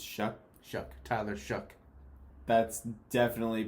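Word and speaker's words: Shough: Uh they take Tyler Show. Um Shuck. It's Shuck. Shuck. Tyler Shuck. That's definitely pronounced Sho.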